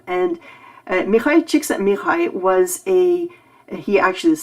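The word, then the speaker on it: Mihály Csíkszentmihályi: have uh mikhail yeah if you're taking a look at how his name is spelled that's um that's a hungarian name and uh mikhail chiksa mirai was a he actually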